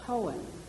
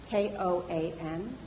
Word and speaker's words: koan: this word, are a little bit like a koan, K-O-A-N, a koan. And a koan is those riddles like, what's the sound of one hand clapping? That's a koan.